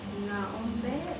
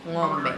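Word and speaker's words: ng'ombe: So how to pronounce it? Is it Naombe or Ngombe? Ngombe.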